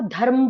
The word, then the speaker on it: धर्म: अब आप धर्म बोलिए, धर्म, धर्म, ध के बाद हम र का उच्चारण कर रहे हैं, हम ध के बाद र का उच्चारण कर रहे हैं, धर्म, धर्म, और र का हौले से उच्चारण कर रहे हैं।